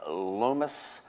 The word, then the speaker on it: Lomas: us today um Michael Nelson who's with the Lis Museum Center is that is that how it's said that's correct Lis Center Museum okay and that's in gburg that